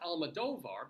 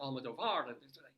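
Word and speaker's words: Almodóvar: And it's pronounced Almodovar because the accent is over the D-O-O rather than the var, the A in var, because other people do pronounce it Almodovar.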